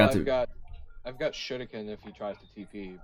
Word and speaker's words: shuriken: I rolled the R, alright, so shut up. Shuriken. Shuriken. It's the Japanese way of pronouncing it.